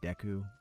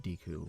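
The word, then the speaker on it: Deku: And I know some people are going to protest me not calling them decu, but uh I grew up learning very specific rules about English pronunciation. Uh yeah, I guess I'll talk to him. And I believe that technically speaking, it's supposed to be pronounced diku with that particular spelling.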